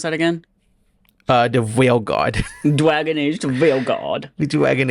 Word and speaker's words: Veilguard: Wait, how do you pronounce that again? The Veilguard.